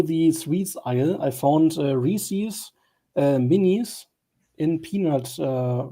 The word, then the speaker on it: Reese's: Because you guys are often discussing Reese's, I believe, is the correct pronunciation.